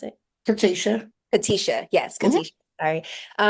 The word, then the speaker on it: Katesha: Kanisha, I'm sorry, is that how you pronounce it? Katesha.